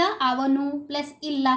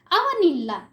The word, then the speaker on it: ಅವನಿಲ್ಲ: We can't say द ಅವನು प्लस इल्ला करके ऐसा प्रोनाउंस नहीं कर सकते हैं। ಅವನಿಲ್ಲ ये वाला संधि होता है।